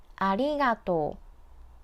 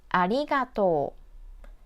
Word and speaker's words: ありがとう: In this word, the vowel o and u are placed next to each other, so extend the to character. Don't read them separately, like ありがとう, ありがとう.